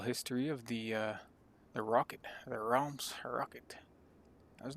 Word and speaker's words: Reims: Kind of looked up the pronunciation. Reims. If I was to just say it not knowing, I'd say Reims.